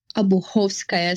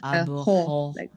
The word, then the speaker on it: Obuhovskaya: And today, our host is Anna Obuhovskaya. How do you say it? One last time. Obuhovskaya. So you just stress Obuhovskaya.